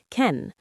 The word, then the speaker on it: can: In positive sentences, we usually say can with a weak sound, ken.